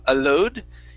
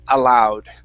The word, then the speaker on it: allowed: This OW is an OW sound, so instead of allowed, it's allowed.